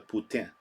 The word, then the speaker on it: poutine: Poutine. That's how you say it. That's how the French say it. The poutine. I say poutine, but the correct way to say it is poutine.